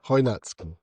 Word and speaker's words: Chojnacki: Okay, but it's spelled like with a C. Yeah, that's the. Okay. Yeah, Chojnacki. Okay, so he follows Chojnacki, and Chojnacki is a